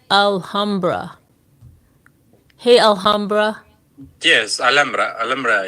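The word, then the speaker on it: Alhambra: to go and I see alra am I pronouncing that right alhamra hey alhamra yes alra alra is is the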